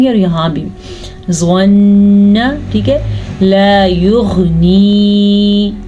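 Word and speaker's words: لا يغني: لا یغنی, الف مدہ ہے اور غین کے تلفظ کا بھی خاص خیال رکھنا ہے.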